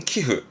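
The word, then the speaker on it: 寄付: 기억해 보시고, 첫 번째, 기부하는 발음은 키흐.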